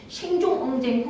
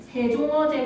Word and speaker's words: 세종어제: 생종엉쟁 흥민정음이라고 읽습니까? 아니면 세종어제 흥민정음이라고 습니까? 생종엉쟁이라고 얘어제라고 얘까요? 세종어제라고 했습니다. 왜냐?